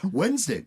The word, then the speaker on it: Wednesday: it's a silent d wednesday you don't pronounce the d in wednesday and yet there is